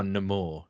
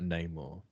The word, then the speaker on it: Namor: But remember, it's now Namor. It's not Namor. Oh yeah, it's sexier now. You heard the way he pronounced it? I was like, Jesus Christ. Namor. They put an accent over the A.